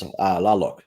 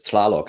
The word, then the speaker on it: Tlaloc: Because they've got the Aztec rain god was Laloc, and that was TL. Gotcha. And I always pronounced it as Tlaloc, and they said no, don't bother with the T.